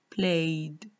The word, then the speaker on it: played: Here we added ed to the regular verb play, and the ed ending is pronounced da. Played, played, played.